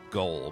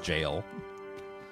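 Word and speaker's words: gaol: Yeah, I keep saying, I keep wanting to say, pronounce it as goal, but apparently it's just jail.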